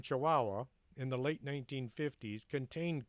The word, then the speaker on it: Chihuahua: A meteorite that crashed in Kahuahua. That's how it's spelled. Come on. A meteorite that crashed in Chihuahua in the late 1950s contained crystalline structures that far outdate the solar system.